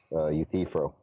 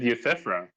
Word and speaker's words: Euthyphro: Yeah, you know how Y can sometimes take a long E sound? That's the only reason Jovan was commenting. It's pronounced Euthyphro.